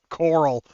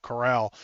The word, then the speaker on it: Carl: It's spelled Carl, but it is pronounced Cora Coral. I almost said it wrong there, too. Coral.